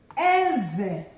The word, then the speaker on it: eze: High, low. Eze, meaning king.